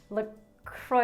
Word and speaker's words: LaCroix: makes it so special lacroix lacroix flavored seltzer water look kroy is how you pronounce it right pita bread where's